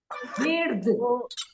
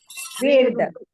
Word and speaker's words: verde: Verde. verde. Verde. Verde. Verde. This. Cut it off, but don't cut completely. Okay, don't make it verde. It is verde.